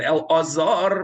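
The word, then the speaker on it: Elazar: In the Torah, we pronounce the Aleph. We say Eliezer, B'Shem Echad Eliezer, and we say Binchas ben El-Azar ben Aharon HaKohen. But in post-biblical times, you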